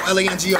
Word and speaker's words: Lango: Lango rhymes with mango, rhymes with tango. L-A-N-G-O.